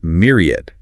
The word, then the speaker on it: myriad: Next up is myriad. Myriad! Stress on the first syllable, M-I-E-D.